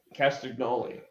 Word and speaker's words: Castagnoli: I like Claudio Castagnoli.